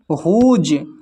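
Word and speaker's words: whose: फिर है हुज हुज में भी डब्ल्यू साइलेंट है बल्कि एच का उच्चारण हो रहा है।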